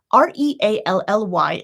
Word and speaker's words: really: vowels in English, but I could do it in 3 syllables. E, really, really. Or, as you can see, I can do it in 2. Really, really, really, really, really, really, really. Either one is fine. But what's actually happening here? We're dropping that middle schwa sound, right?